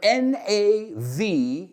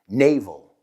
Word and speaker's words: navel: La cuestión es, ¿esa A-L se pronuncia igual que esa E-L? Pues sí.